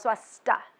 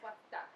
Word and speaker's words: Swastha: Swastha. Swastha. Swastha. The H is silent. Okay, that would be helpful if I said it right. Swastha.